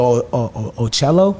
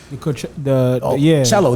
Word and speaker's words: cello: Like, I went to Mecco and I used to do I used to play the Ocello. Is that how you pronounce it? Cello. The cello. Yeah, the cello.